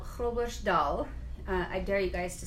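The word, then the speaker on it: Groblersdal: region that we emigrated from a town called crow Bush Dahl I dare you guys to say that it's spelled gobblers Dahl G ro b le r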